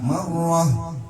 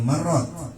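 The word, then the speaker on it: مرة: Lihat itu tnya bulat ada titik dua di atas namanya tauqah. Ketika kita berhenti dibacanya jadi huruf ha. Marrah jangan marrot.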